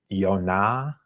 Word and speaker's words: Yona: that um pronunciation in Jonas would in Hebrew be Yona yeah yon with that um with the the emphasis being on that second symbol but in Greek it